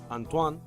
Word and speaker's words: Antoine: El accidente ocurre, Antoine, ¿se pronuncia bien? Sí, sí, perfecto. Perfecto, Antoine.